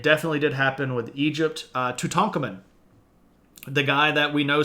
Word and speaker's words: Tutankhamun: Some people say Tutankhamun, but that's not keeping with the Egyptian syllable stressing.